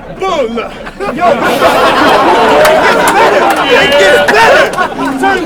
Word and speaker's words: Bulle: which is ironic because the way he spells his name is a Swedish word for a roll or bun. It's pronounced Bulle.